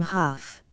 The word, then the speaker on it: Hough: The first class graduated from the Little Iowa High School had 3 members, Hough being one. It is perhaps not out of place to say that he pronounced his surname Huff.